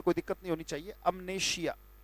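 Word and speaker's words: amnesia: अमनेशिया, उच्चारण ये है बेटा.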